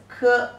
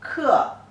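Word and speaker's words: 克: It pronounces ke, e, ke.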